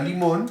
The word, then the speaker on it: limón: la palabra limón cierto la palabra limón tiene 2 sílabas cierto la sílaba tónica es la última porque yo no digo